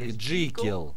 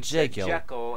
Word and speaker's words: Jekyll: А вы знаете, что правильно произносить именно как Джикил? Так его назвал создатель Роберт Лу Стивенсон. Но с неправильным произношением был создан фильм. И теперь его называют Джекил.